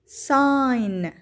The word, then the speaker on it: sign: Sign إشارة أو علامة، هنا الجي لا تلفظ.